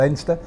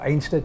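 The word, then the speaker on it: Anstruther: in near saint andrews a place called endster or anster or ainster depends how you pronounce it that's a lovely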